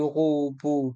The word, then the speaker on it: robot: Dans le mot robot, le T est muet.